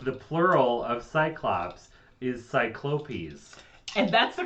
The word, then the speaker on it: cyclopes: correct the plot the plural of cyclops is cyclopes and that's the correct pronunciation to cyclopes according to merriam-webster that yeah merritt winster the